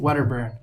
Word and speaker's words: Wedderburn: Today, I have the privilege of welcoming on 2 Orangetheory franchisees, Manny Sierra and Wedderburn. Hey. I pronounced You nailed it.